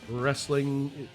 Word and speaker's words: wrestling: gnarly with a G wrestling pronounced with you don't pronounce the W and Isle but I'm